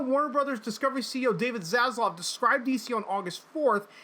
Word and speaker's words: Zaslav: How do you pronounce his name? Zaslav? Yeah, Zaslav.